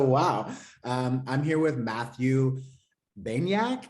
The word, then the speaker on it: Baniak: I'm here with Matthew Baniak.